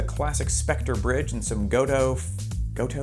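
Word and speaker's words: Gotoh: have to make a stand on how you pronounce a couple of things goto that's how it'll be as far as electronics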